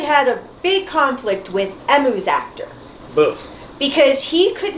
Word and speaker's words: Emu: in both ways, except in Japanese, it's pronounced Emu. E-M-U.